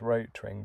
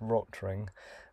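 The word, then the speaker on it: Rotring: used to pronounce this roach ring but i have a feeling it might be pronounced rottering um because it's german and rot ring just means red ring and they have red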